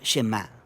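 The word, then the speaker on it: שְׁמַע: Oye o escucha Y en hebreo se pronuncia shemá de ahí es de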